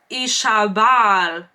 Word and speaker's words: Isabel: Fisher pronounced it Ishabal.